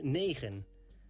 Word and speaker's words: negen: 9 is negen. This is pronounced like nee and gen. Negen. Negen. 10 in Dutch is tien.